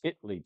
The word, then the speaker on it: Italy: It's spelled Italy, but if you know anything about Texas is that we know how to say words a unique way. Around here, it's Italy, Texas. There is no a in the word.